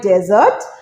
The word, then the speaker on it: dessert: Always মাথায় রাখবে মরুভূমির উচ্চারণ হয় ডেজার্ট, আর খাবারের যে শেষে যে মিষ্টি, দ্যাট ইজ ডিজার্ট, ডিজার্ট।